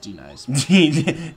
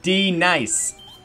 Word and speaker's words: Denise: Oh, it's pronounced D-Nice. D-Nice.